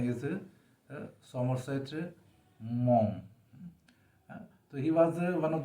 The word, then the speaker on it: Maugham: and his name is william sometimes many people pronounce as mogum but that is a wrong pronunciation the karna the correct pronunciation is mom so he was one of the most highly